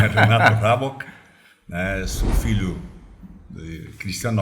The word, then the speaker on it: Raboch: Bom, vamos pronunciar meu nome correto, né? Renato Rabok, né?